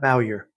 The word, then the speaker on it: Bowyer: Bowyer? Yes, Matt Bowyer.